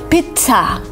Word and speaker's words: pizza: is pizza and here you can pronounce it like pizza uh with a stop with kind of t with air coming out of your mouth pizza because some people say pizza which is not right you kind of